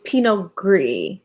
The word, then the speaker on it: Pinot Gris: s but the clearly the s is silent so it's pinot gris versus pinot noir i'm